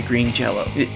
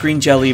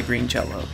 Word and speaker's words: Green Jello: music was done by Green Jello. I know, it looks like it's pronounced Green Jelly, but I promise it's pronounced Jello.